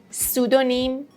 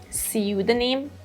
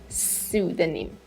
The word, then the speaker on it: pseudonym: Number four, if you say pseudonym, wrong. If you say pseudonym, again, wrong. The British pronunciation is pseudonym, pseudonym, and the American pronunciation is pseudonym, pseudonym.